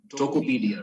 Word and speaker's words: Tokopedia: in the e-commerce industry your tokopedia am I pronouncing it right tokopedia right that's that's the name of the company